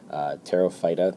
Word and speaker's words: Pterophyta: today is division pterophyta the p is silent like in pterodactyl terophyta these guys are ferns